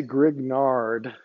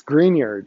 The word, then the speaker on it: Grignard: Nobel Prize Victor grignard and don't say grignard that's not how you pronounce it in French this green yard reaction green yard okay when you take care of your yard at home you want to keep it green okay don't don't mispronounce